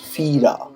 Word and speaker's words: Fira: In the late afternoon, we arrived in Fira, pronounced Fira, the capital of Santorini.